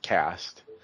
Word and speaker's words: Caste: Cast, it's like talking about Dawncaste, Zenith, Twilight, it's Cast.